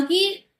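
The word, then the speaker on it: 九: Similar होता है 9 को जापानीज लैंग्वेज में प्रोनाउंशिएट किया जाता है कू की तरह।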